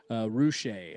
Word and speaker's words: Roueche: The correct way is Roueche or Roueche? Roueche.